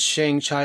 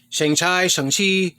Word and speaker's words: Shang-Chi: And then I don't know if I showed this in my last comic book haul, but this is Shang-Chi or Shang-Chi. Shang-Chi. Kevin Feige pronounced it Shang-Chi.